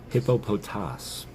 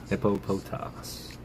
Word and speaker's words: Hippopotas: Hippopotas, which is the correct way to say this Pokemon's name. Hippopotas.